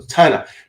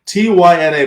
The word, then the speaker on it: Tina: So Tina, Tyna, by the way, it rhymes with China.